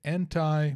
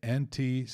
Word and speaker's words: anti: kiss the sky rocket é a pronúncia de anti em inglês pode ser entre pode ser antes são duas possibilidades então bolsonaro participa de